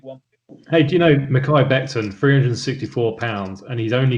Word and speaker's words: Mekhi Becton: I cannot pronounce it. Mekhi Becton.